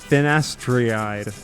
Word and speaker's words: finasteride: Finasteride.